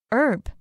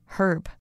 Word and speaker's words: herb: Kelly 喜欢用香氛蜡烛让房间充满香气。再来我们看到名词 herb，也可以念成 herb，它的意思是香草或是药草。例如I have always wanted to have a small garden so I can plant some fresh herbs for cooking.